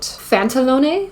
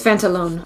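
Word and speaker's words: Pantalone: playlist so shout out phantalone phantalone I think it's fantalone I think it's a silent E so it looks like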